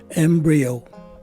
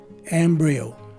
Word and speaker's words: embryo: of it and finally the letter o at the end is a long o sound which is also emphasized with the use of the macron sign so this word is pronounced as embryo again embryo our second